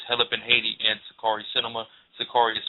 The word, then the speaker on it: Sicarii: Sakari is spelled Sicarii.